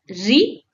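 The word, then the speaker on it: ऋ: It's a short, crisp re like the start of rhythm.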